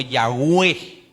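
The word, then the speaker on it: Yahweh: Entonces qué resultó bueno el nombre yahua así pero más pronunciado como yahwe yahwe pero todo eso hermanos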